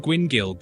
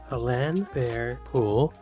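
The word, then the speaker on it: Llanfairpwllgwyngyll: If you think British place names are quirky, nothing tops the Welsh village of Llanfair Pŵl Gwyngyl Gogo Quindrob Ŵl Llantis Iliogo Gogoch.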